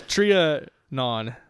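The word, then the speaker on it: Trianon: What the hell is a triionon? A triionon or a trian. Triionon. I'm not sure how it's pronounced at this point. It's trian.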